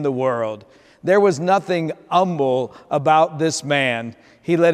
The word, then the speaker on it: Humble: texas of all places you spell it humble but in texas they say humble yet the h was not silent in either of his names he was known for